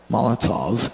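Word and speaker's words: Molotow: l OT o w mala tau Molotov is how it's pronounced Molotov tens which are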